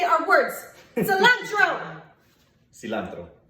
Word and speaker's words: cilantro: My favorite word that he says is cilantro. Cilantro. Cilantro. Cilantro. Cilantro. Roll your R.